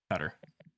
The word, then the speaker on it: Qatar: Qatar. That's the closest English pronunciation.